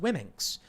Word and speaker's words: Womxn: And they said Wimixen, WOMXN, Wimixen. I don't know. And they say it's pronounced Wimminx.